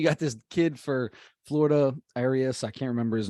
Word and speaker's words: Arraez: and then you got this kid for Florida, Arias, I can't remember his name exactly how to say his name, who's creeping up on 400, right? He's hitting 489, I think, Luis right Arraez, now. Yeah. Arraez.